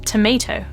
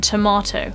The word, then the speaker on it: tomato: So this is present in the word tomato. To contrast this with the American pronunciation, which I'm really sorry, I'm going to definitely get wrong because my American accent is terrible. Americans would say something more like tomato rather than tomato.